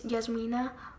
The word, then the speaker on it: Jasmina: Hey Hadar, my name is Jasmina, Yasmina, though Americans usually pronounce it as Yasmina, which is not really an issue for me, like I get it, close enough.